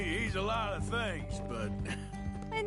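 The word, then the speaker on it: Beau: And you might think just on first blush if you don't know anything about the name B, oh that's spelled B O W, right? No, it's spelled B E A U.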